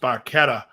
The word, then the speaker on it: Barchetta: i believe a ferrari barchetta an italian it's pronounced barchetta and i guess getty didn't know that till